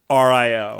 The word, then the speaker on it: Mario: It annoys me no end when someone says Mario as Mario. Damn East Coast people. And then there's like 9 replies. Wait. How did he spell that out? I'm gonna lose my goddamn mind. How did he spell that out? Mahrio. Okay, that's right. That's how I say it.